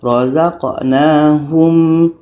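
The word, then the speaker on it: رَزَقْنَاهُمْ: Jadi cara bacanya razqnahum yunfiquun. Jadi mim ini harus jelas, makhrajnya harus tepat dulu. Hum yun. Tapi jangan terlalu lama karena kalau lama nanti akan menjadi dengung. Akhirnya salah baca.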